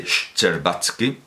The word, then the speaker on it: Shcherbatsky: estilo de los de Shcherbatsky, que se pronuncia así, Shcherbatsky, en su lógica budista.